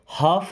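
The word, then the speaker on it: half: them उनमें से कौन हाफ of them हाफ means होता है आधा या आधे देखिए यहां पे एल साइलेंट ना हाफ नहीं बोलना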